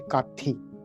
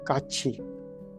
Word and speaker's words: 같이: original sound carry forward it must be kathi cutting no pronunciation of this word will be Kachi Kachi rule is when the